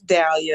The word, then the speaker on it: Dahlia: And with that, Dahlia, I'm trying to pronounce that correctly. It's Dahlia.